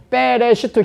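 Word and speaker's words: בראשית: 베레시트 히브리어 발음은 그렇고 하나님의 집에서 점이 된 분이 모든 교회와 모든 피조물과 모든 땅의 머리다.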